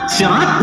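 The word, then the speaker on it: صراط: Ini pun sama sirat, zirat, sirat maknanya sama.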